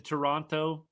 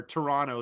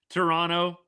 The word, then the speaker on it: Toronto: That year to me, that was the melt in Toronto. Yes. Or Toronto. Sorry, you don't pronounce the second T. Toronto.